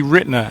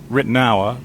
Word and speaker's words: Ritenour: This is guitarist Lee Ritenour, as we say in the UK, but actually, Lee, everywhere else, like America says Ritenour, but there are variations, right? That's right. Ritenour is the English pronunciation, but it's a Huguenot name. It's part French, part German.